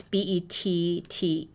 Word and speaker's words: Bette: Also don't know if she pronounces it Betty Manning or Bet. It's Bettee.